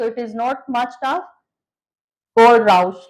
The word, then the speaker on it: Kohlrausch: बच्चों को इसकी प्रोनाउंसिएशन नहीं समझ आती है। सो इट इज़ not much tough. कोडराउस लॉ।